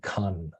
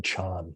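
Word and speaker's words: kan: this king's name where they go out of their way to use that same Ka syllable to indicate that they're saying Khan for 4 rather than Chan.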